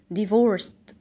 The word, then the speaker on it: divorced: They are divorced. Divorced. وهنا الدي اللي في الآخر بتنطق بصوت التي، تا سام.